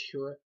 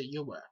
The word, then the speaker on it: Yahweh: I don't pronounce it as Yahuwah. I say Yahweh. Very similar to Yahweh, or Yahweh. But I say Yahweh.